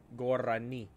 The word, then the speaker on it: Gorani: Gorani. Damn. Gorani. Gotta roll your R's, you know what I mean? Gotta roll the R's, baby.